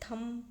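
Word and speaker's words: thumb: तो इसे थंब पढ़ते हैं। बी यहां पे साइलेंट होता है थंब।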